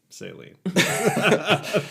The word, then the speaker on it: Celine: Celine. This guy pretending like he knew how to pronounce saline.